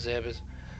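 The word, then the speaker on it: Zebes: head down to Ze zeas people pronounce it different I personally go with zeas but that's just me uh another thing about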